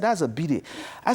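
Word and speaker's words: bidet: Det so you know because a friend don't pronounce T that's why it's called a Biddy I was toting invest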